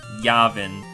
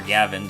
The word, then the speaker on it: Yavin: of yabin but clearly we're supposed to be on Yavin or Yavin depending on how you like to uh pronounce it just another one